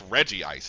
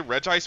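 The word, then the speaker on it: Regice: No, it's Reggie Ice, isn't it? Like that's how you say it name. I always say Reg Ice because that's how it looks, but I know that they're the Reggies.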